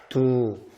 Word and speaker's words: ดู: 그래서 발음은 보다, 두, TV 발음을 조심하셔야 됩니다.